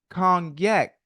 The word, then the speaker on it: Cognac: You said kgnac, but it's spelled c o g n a. Why not a y? Cuz you saying yak. Kong yak.